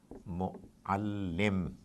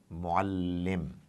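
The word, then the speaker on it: مُعَلِّم: So this particular word is pronounced by the Arabs like this: mu'allim, mu'allim.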